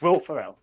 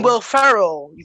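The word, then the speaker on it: Will Ferrell: we'll win first obviously it's wilt pharrell right who's that who's that well i mean will farrell because you're not you can't even say his name right so come on how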